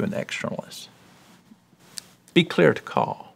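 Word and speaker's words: Karl: Picture him walking down the road, and they call him Caw. You don't pronounce the R, just Caw, okay?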